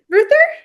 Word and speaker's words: Ruether: I'm here with I I apologize if I mispronounced the name H Torsten Ruth Ruther yeah it's good good good good good fine